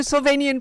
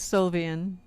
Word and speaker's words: Sylvian: No, it's Sylvian, but my brain saw Sylvanian because of Sylvanian families.